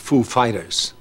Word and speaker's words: Foo Fighters: like he said he asked us if the accent was on Foo or Fighters Foo Fighters and we know who is like of course we know how he speaks and we said uh the accent is on Fighters actually so he he goes